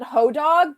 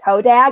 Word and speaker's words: hodag: I always pronounce it hodog, but like my in-laws are from the Midwest and they're like, Amanda, you're pronouncing it wrong. It's hodag.